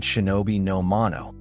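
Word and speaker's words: 忍びの者: For most of Japanese history, the same two characters were read Shinobi. No mono, the one who conceals.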